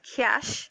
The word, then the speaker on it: cache: Now cache memory, which the word there is C-A-C-C-H-E, is pronounced cache, right?